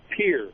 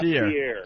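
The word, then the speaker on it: Pierre: sh go ahead yeah you guys pronounce that wrong it's Pier not Pier Pier Pier Pier South Dakota you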